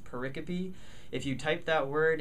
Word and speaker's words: pericope: encounter later on that word is porreca p p ER IC ope it looks like pericope but it's pronounced porreca p if you type that word into microsoft word